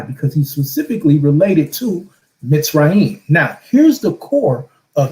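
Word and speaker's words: מצרים: So this is why when you go back to Mitzrayim, that's why it's pronounced Mitzrayim with the Z sound, because you have a Sade in there.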